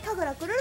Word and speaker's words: 神楽くるる: 楽しい、ひらがなにくるるで神楽くるると読みます。